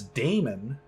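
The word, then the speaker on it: daemon: were not required uh i would say you pronounce it damon not demon demon okay all right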